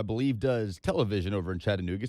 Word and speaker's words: Chattanooga: does television over in chattanooga says real chattanooga's called chattanoo chat uh nougat don't come here pronouncing the ts so chad anuga chad uh nougat chattanooga that's right okay no t's in